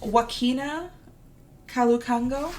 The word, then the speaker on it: Joaquina Kalukango: I believe it's Joaquina Kalukango. That's how I would pronounce it. That sounds correct.